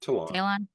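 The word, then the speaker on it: Ta'Lon: I was really excited to see Talon. How do you say his name? Talon. I was so excited to see him.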